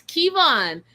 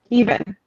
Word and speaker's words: Keavan: It's Kevon, spelled Keavan. Kevon. I'll give you that.